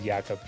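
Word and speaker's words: Jakob: another local we got yakob Martins here uh Jacob Martins yakob I I pronounce it yakob from Saskatoon Saskatchewan he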